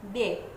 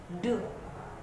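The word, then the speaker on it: deux: Yang angka 2 yaitu de. Non de, tetapi de.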